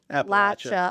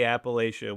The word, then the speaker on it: Appalachia: Appalachia. Oh my gosh. The saying is if you say Appalachia, we'll throw an apple at you. So that's how you remember to say Appalachia.